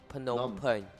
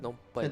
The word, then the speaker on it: Phnom Penh: Teach me how to Phnom, pronounce Phnom Penh. Phnom Phnom Penh, Phen- Phnom Penh.